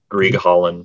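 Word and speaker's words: Grieghallen: Is that how you pronounce that? Grieg Hallen, yeah.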